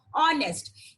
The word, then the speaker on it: honest: I told you when we say honest, H is silent there. So we have to pronounce that as honest.